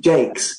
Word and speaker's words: Jacques: seems so obvious, like, do you remember the children's author Brian Jakes? Or I would call it Jacques. Exactly. But he's a Northern Englishman, firmly going to pronounce his name English.